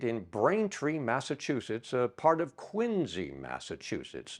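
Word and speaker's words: Quincy: Braintree Massachusetts part of quinsey Massachusetts now that spell quu I ncy but it's got the ZZ sound at the end the town of quinsey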